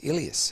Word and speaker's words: Elias: it out and then so the best way that uh to pronounce it is ilius and when i said it that way he said yep that's correct so he comes in